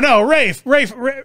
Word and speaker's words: Ralph: And it's, no, Rafe. It's not Ralph, is it? I think it's Ralph. He doesn't pronounce it Ralph because he's French, right?